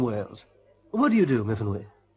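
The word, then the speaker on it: Myfanwy: What do you do, Miffinwy? No, Miffinwy. We pronounce it Miffinwy.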